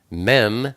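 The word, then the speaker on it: מם: then we have mem mem is the number forty and it's pronounced M like mommy it's the picture of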